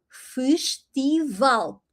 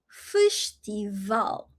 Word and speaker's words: festival: So, everything that ends with l, you have the emphasis there, where the l is in the in the end. So, ooh fish-ti-val.